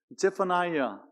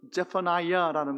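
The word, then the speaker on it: Zephaniah: 예, 스바냐를 영어로 읽으면 제퍼나이아 뭐 이렇게 발음이 되는데 히브리어하고 비슷해요. 히브리어로 읽으면 제파네야 비슷하죠, 그렇죠?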